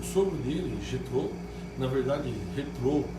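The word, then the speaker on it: Jetro: Na verdade, Jetrô, é que a gente que fala português, a gente não consegue falar o J do jeito que fala o espanhol, né? Mas porque o J tem essa pronúncia aqui, nesse caso, mas é Jetrô.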